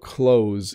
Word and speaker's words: clothes: like moth booths clothes so the nice thing about clothes in North America is we don't use the T we just we say an S so we spell it that way but there are a